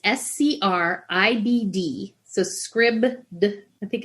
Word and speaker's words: Scribd: And then I've got Scribd, which is, everybody knows Audible, which is an online audiobook place where you can have a subscription and get credits for audiobooks.